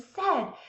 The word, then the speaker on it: said: So then we're going to show them it does sound like eh, it's spelled A-I. That's the tricky part because the A-I together in this word makes the eh sound.